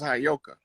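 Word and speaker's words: heyoka: was telling you that that word is properly pronounced as hyoka and the hyoka is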